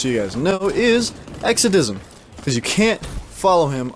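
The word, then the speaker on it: Exadism: So his YouTube channel, just so you guys know, is Exodism, because you can't follow him unless you know his channel. So just so you know, it's Exodism. That is spelled E-X-A-D-I-S-M.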